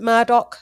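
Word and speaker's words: Murdaugh: They pronounce it Murdoch murders that happened out in South Carolina with the solicitor.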